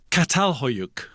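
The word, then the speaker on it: Çatalhöyük: So the first ever town was a place called Catal Hoyuk in Turkey. Well pronounced.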